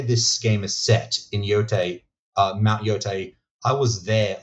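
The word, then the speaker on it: Yōtei: It's Yotei.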